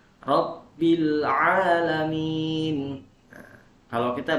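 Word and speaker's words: رب العالمين: Lalu yang kedua, kesalahan yang kedua adalah di ain. Ain jadi alif ya, dibaca alif ainnya. Al-alamin dibaca al-alamin. Nah, itu salah. Rabbil alamin.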